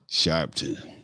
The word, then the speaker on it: Sharpton: Sharpton. That's how you pronounce it.